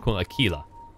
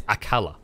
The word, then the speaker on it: Aquila: He was like, some of them are calling it Aquila and some of them are calling it Aquila. And none of them seem to realize it's Akala.